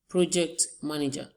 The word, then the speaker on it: project manager: Project manager. Our stress is on pro.